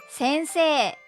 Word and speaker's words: 先生: 先生はひらがではせんせいと書きます。でも実際には先生先生と伸ばした音で発音します。